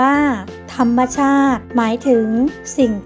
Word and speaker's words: ธรรมชาติ: อธิบาย เรื่อง ให้ ฟัง ธรรมชาติ อ่าน ว่า ธรรมชาติ หมาย ถึง สิ่ง ที่